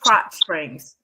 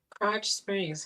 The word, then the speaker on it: Krotz Springs: Crotch. Yeah, it's pronounced Krotz Springs. They pre-make meals. Oh, cool. Crotch Springs, huh?